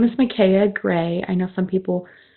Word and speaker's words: Micaiah: So, my name is Maya Gray. I know some people um don't know how to pronounce that. So, that's the pronunciation. It's Maya Maya.